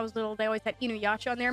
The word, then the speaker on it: Inuyasha: So I remember when I was little, they always had Inuyasha on there. My mom lovingly calls it Inuisha because she can't pronounce it.